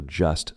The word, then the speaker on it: just: Instead of saying, I am just saying, we drop that T. We do not pronounce it. So just sounds like just, right? Just an S.